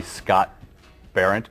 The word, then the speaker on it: Scott Berendt: Center, but they fired me because I couldn't pronounce names correctly. So tonight, the guest on the show is the Scott Berendt Band.